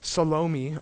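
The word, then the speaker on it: Salome: sends in her daughter salomi or salom depending on how you pronounce it he s she sends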